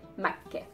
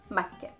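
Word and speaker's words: مكة: Makke, it has the K and the T marboota at the end, so we would just say Makke, Makke.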